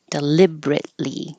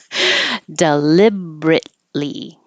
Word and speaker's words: deliberately: Anything that ends with ATELY looks like eightly. We'll just drop it. We do say it. Deliberately. It's the E we just don't say. Deliberately.